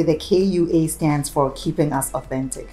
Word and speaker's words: Kua: How do you spell it? Just the same way, K-U-A.